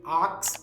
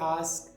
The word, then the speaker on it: ask: commonly mispronounced words are saying aks instead of ask or wif instead of with or saying athalete instead of athlete so pay close attention